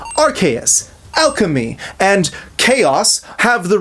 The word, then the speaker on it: Arceus: It is undeniably Archus because that is the official statement from Pokémon.